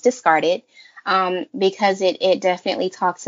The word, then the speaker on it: DiscardIt: podcast is called the discarded podcast and it's spelled discard it i.t but pronounced discarded because it it definitely